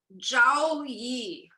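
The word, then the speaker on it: Zhouyi: at the time it was called zhao yi that was how you pronounced it and then it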